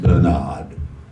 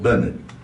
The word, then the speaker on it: Bernard: Not Bernard. But Bernard. in your home country, they would pronounce it Bernard. Just like that. That's how my mother pronounced it, and she should know.